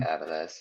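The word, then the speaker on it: Avilés: They have switched around goalkeepers with Jerez, and then I think it's Aviles, I think is how you pronounce his name. Aviles, yeah. Yeah, thank you.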